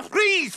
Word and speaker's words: Fries: My name is Fit to Freeze, for God's sake. It's freeze, but you spell it fries, like French fries. Weird. It's German.